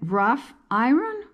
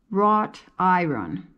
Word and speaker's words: wrought iron: I also mispronounced it I called it rough Iren but it's really wrought iron I never heard that